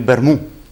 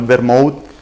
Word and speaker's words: vermú: Desde pequeñicos nos han llevado a tomar el vermú, y vermú con acento en la U, no el vermouth, que siempre que oigo